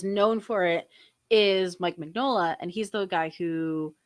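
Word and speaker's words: Mignola: And he has a tweet that says, "Hey guys, it's MIN-YO-LA. Just saying."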